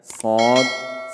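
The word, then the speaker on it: ص: দুই দাঁত আছে দুই দাঁতের আগার দিকে লাগাইয়া সদ সিন যা আবার বলি জিহ্বার আগা সামনের নিচের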